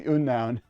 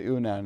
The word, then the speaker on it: Unown: It's the Unown. I know it's supposed to be the unknown, but I pronounce it the Unown.